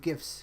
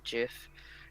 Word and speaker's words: GIF: way you Jeff give there's a debate most people say gift but it's actually was originally meant to be Jeff so then there's the